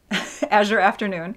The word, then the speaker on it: Azure Afternoon: Azure Afternoon.